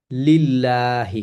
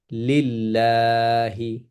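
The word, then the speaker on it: لِلَّهِ: লিল্লাহি হবে।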